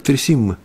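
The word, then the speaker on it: תריסים: Правда, произносится как «тресимма».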